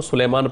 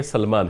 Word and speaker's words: سلمان: کی اصلاح چاہتا ہوں۔ بعض لوگ آپ کو سلیمان پڑھتے ہیں، سلیمان نہیں بلکہ سلمان ہے، یہ یا کے ساتھ نہیں ہے، تو اس کو تلفظ